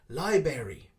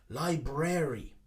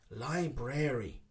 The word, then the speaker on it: library: the middle and say library library but actually we need to pronounce the r in the middle library library is the correct pronunciation